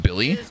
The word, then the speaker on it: Bin: I don't think it's Son. It's got to be more than just a Son, like S. It's pronounced Billy.